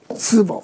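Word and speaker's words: 淄博: 이건 중국 발음으로는 스보.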